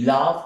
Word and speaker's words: love: Caliente, top es encima y love es amor. Entonces acá, love, el sonido de la V, la E no suena. Love.